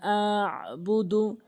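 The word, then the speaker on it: أَنْتُمْ: ওয়ালা, হামজা নুন জবর আন, অনেকেই আন উচ্চারণ করে ফেলে, বলতে হবে আং, নাকের ভিতর নিতে হবে আং।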